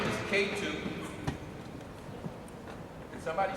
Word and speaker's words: Ketu: It's K2, and it's spelled K-E-T-U.